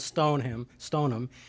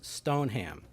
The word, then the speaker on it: Stoneham: The cabin is in the town of Stoneham, and that's how they say it up there. I was corrected several times. It's not Stoneham, it's Stoneham.